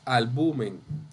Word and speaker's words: albumen: Bien, no albumen, es albumen. Y es grave o llana, como ustedes han dicho.